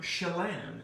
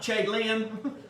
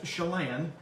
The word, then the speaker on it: Chelan: you're going to see these are Chelan is how you pronounce that and that's not Chegg Liam that's Chelan cherries and they are some